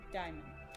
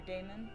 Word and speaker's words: Daimon: I'm Daimon. Or Damon, I can't pronounce things. I think it's Damon, that's how I would always pronounce it.